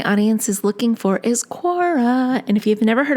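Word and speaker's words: Quora: out what my audience is looking for is Cora and if you've never heard of Cora it's spelled qu o RA and basically it is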